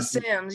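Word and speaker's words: Simz: I'm not sure how to pronounce her name. It's Lil Sims, you're right.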